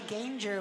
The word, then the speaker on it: Ganger: And that they are Sheila Kisloff, Keith Harrington, and Joshua Ganger, which rhymes with danger.